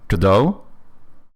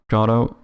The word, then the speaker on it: Godot: Because if it's a French pronunciation, we can definitely know one thing, which is that there's no way you're supposed to pronounce the T at the end.